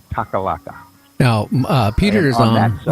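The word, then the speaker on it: Takhlakh: It's actually spelled just kind of like that, Taklakh, and I believe you pronounce it Takalaka.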